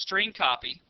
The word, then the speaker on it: strcpy: following line of code St cpy which is pronounced string copy left parentheses and then the name of the